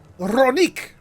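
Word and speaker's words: Rroneek: That's pronounced it's just Ronek? What's with the double R then? Double R in Spanish is, you roll that shit. Ro. And it's E. Ronik!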